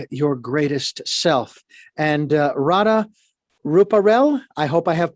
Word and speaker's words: Radha Ruparell: be with you and i've got your name pronounced radar rupaul you've got it perfectly uh great i'm glad